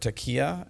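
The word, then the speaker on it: taqiyya: that you've identified is this word taqeyya, and I think I'm not sure I'm saying it properly. You're saying it right.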